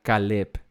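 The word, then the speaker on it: כָּלֵב: Pero es diferente porque el nombre de él se pronuncia Caleb y Caleb significa fiel.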